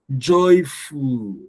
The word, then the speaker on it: joyful: Joyful. You're not going to stress the fool. Joyful. Joyful. Joyful. The fool is going to be lower. All right.